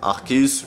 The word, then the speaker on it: Arceus: Dans tous les cas, ça se prononcera Arc. Par exemple, nous avons la potentielle étymologie de Archaic, bah, qui se prononce Arc, justement, qui signifie ancien en latin. Aussi, il y a Arché qui définit le commencement dans le grec ancien. Et tout le reste des étymologies se prononce tout simplement Arc.